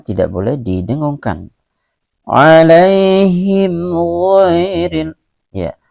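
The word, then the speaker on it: غَيْرِ: Alaihim ghairil, ya, ghai ini juga merupakan mad lain, ya, dibaca sekedar lunak atau lemas saja, ya.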